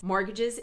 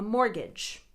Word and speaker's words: mortgage: medical debt and mortgages mortgages is another word that all checks mispronounce it means hipoteca a mortgage just don't say the t the t shouldn't even be there mortgage mortgage the only debt i